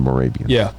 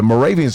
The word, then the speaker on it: Moravia: i a okay and well Moravia is in uh sounds like Scandinavia Moravia is in bro